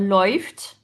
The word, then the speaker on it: läuft: Par exemple, er läuft, il court. Donc on prononce oi.